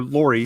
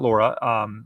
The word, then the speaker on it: Lori: Or Lori, not Laura.